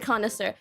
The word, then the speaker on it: connoisseur: Not that I can pronounce the word connoisseur.